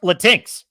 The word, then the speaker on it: Latinx: It's pronounced Latinx.